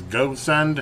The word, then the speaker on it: Gosund: But anyway, this is today we're going to do a review over these Gosund. I guess that's how you pronounce it.